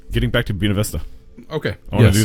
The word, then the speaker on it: Buena Vista: Buena Vista. Buena. Yeah, Buena. Putting the accent. You're putting the accent on the wrong syllable.